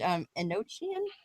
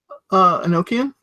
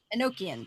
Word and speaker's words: Enochian: the Satanic Bible written and I'm gonna probably pronounce this terribly in a language and no chin is that right Enochian Enochian there we go it's around the time of